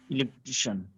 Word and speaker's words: electrician: ঠিক আছে, এটা Electrician. Electrician. Electrician. Electrician. Electrician. ইলেকট্রিশিয়ান। Electrician. Electrician. তো এই যে টিআরআই এটার উপরে কি হলে একটা স্ট্রেস হবে, এটা কি হবে?